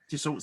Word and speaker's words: Dassault: So was it, I don't know how to pronounce, Dassault Systems? Yes. Dassault Systems.